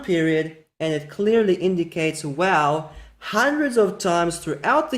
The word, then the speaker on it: waw: wow instead of a vav? I mean, that's ridiculous. The evidence in the Hebrew Bible clearly shows us that wow is not the result of Arabic influence. This is the original pronunciation.